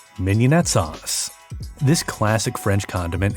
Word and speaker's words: mignonette: We know, it looks like it would be pronounced, MIG-NON-ETTE but one way to remember to pronounce it correctly is to think of a Filet Mignon.